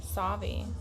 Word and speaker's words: Sauvie Island: So Gresham, Troutdale, Portland, and then up to Sauvie Island, which I think this is still. You say Sauvie or Swati? Sauvie.